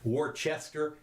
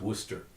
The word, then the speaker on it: Worcester: in case you're interested Worchester is pronounce Worcester okay just so you